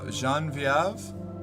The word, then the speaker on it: Genevieve: I don't know how that reminds me, but I knew a girl in high school named Genevieve, but it was pronounced Genevieve, and she'd get mad if you accidentally pronounced it the regular way.